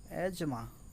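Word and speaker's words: asthma: হাঁপানিটা মানে হচ্ছে অ্যাজমা, বা উচ্চারণটা খেয়াল রাখবেন, অ্যাজমা।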